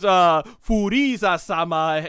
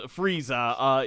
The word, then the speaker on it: Frieza: No, that being is Furiza-sama, basically pronounced in English as Frieza.